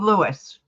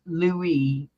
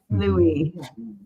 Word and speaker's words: Louis: you're right yeah King Lewis not Lewis Lewis Lou Lou yeah King Lou King Louise King Lou Louis Louie the S is silent Louie yes like camella's trying